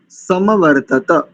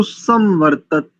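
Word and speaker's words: समवर्तत: स्पष्ट किए देते हैं जैसे एक शब्द इसमें समवर्ती सम कुछ लोग इसको सवर्त ऐसा कुछ इसमें एक ही त का का उच्चारण करते हैं यदि ध्यान पूर्वक आप देखेंगे इसमें तीन त का है और यह जो म है स म यह भी पूरा है यह भी आधा नहीं है एक तो यहां पर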